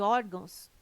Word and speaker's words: órgãos: correto caráter intransferível e órgãos tem sua sílaba tônica na penúltima sílaba são paroxítonas observação poderia